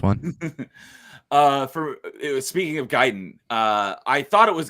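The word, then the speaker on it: Gaiden: was became learned and found out it's pronounce giden and not gayen but it wasn't even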